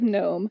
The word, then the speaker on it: gnome: have then we have gnome jeffrey with a g we have jeffrey like the silent g unknown because it's a gnome and then i have